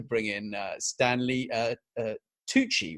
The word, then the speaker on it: Tucci: has managed to bring in Stanley uh uh Tucci right that's is that how it's pronounced yes yes super super and yeah and